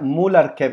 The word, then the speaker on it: Mularkey: Muy bien, pues Desmond, y se pronuncia Mularkey, ¿es correcto?